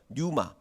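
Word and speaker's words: πνεῦμα: 성령을 루아흐 이렇게 읽고 신약 성경은 이 푸뉴마라고 하는데 사실 이 피는 묵음이에요. 그래서 뉴마 푸뉴마는 아니고 푸자가 묵음이기 때문에 뉴마 이렇게 이제 이야기를 합니다.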